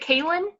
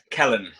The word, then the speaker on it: Celyn: how do you pronounce it? Is it Kalen? Kellen.